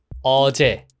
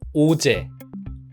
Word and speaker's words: 어제: 것이 바로 어 인데요 어는 일본어에는 없는 발음이다 보니까 가장 비슷한 발음인 로르 처럼 입술을 모아서 발음 하시는 경우가 정말 왔습니다 어제 라는 단어를 발음 한다면 어제 까 아니라 오제 우제 이런식으로요 어를 발음 하실 때는